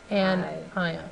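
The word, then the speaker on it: anion: negative is called on an ion ion so here's how to pronounce it an I on on yeah I put that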